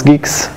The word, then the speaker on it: Guix: Geeks so Geeks is a new thing it's pronounce Geeks like gu and not gu and geks okay